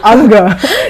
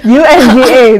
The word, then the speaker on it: UNGA: 75th unga resolution withina i'm so contempt uh to say anger but it's e-n-g-a anger you nga that's how you say it i'm so condemned to